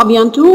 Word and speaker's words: à bientôt: نو التي مش بننطقها انت نطقتيها في ابيانتو ونطقتيها في بونوي لا هي ابيانتو وبونوي ما بننطقش التي لما تكون اخر حرف اوكي يبقى ابيانتو بونوي داكور again أبدأ من الأول.